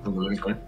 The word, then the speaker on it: Kundalini Coin: Después Bastian, que es Kundalini Coin, puede ser, ¿no es cierto? ¿Ahí lo pronuncié? Correcto, Kundalini Coin.